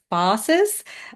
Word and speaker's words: phasis: may not I'm Australian I probably say it different to how I've heard it said before I say fasis um I've heard other people say it like FES uh a lot more um perhaps fancy than than my version but I'm saying fasis and I'm sticking to that anyhow so fasis in